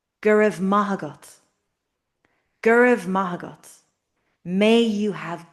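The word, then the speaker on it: go raibh maith agat: So we're stressing the ma because ma means good. Maybe you remember good morning. Majin wa. So gur mahagot. The other words are grammar words. You know that it were, may it be at you. But ma is the real word here.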